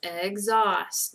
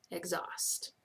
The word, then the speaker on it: exhaust: right you should have exhaust now remember this was a spelling danger because the H was silent exhaust so make sure that